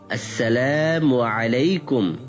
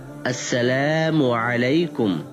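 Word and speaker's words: السلام عليكم: তাদেরটা শুনে শিখেছি তাদেরটাও ঠিক হয়নি আমি শুদ্ধ উচ্চারণ করছি শিখে নাও আসসালামু আলাইকুম নাদের আলীর স্মরণশক্তি ভালো মনে মনে কয়েকবার উচ্চারণ করে বলল আসসালামু আলাইকুম হাবিব ডাক্তার আবার মৃদু হেসে বলল হ্যাঁ এবার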